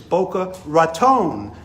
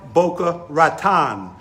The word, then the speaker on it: Boca Raton: in Boca Raton Florida a pronunciation tip for those watching outside Palm Beach County its Boca Raton never Boca Raton a translation tip Boca